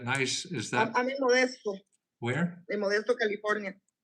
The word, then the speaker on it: Modesto: I see that nice, is that, I'm in Modesto, where? Modesto, California. Spell that. Modesto? Modesto. M-O. Modesto. Ah, okay. Modesto, California. Like modest with an O at the end.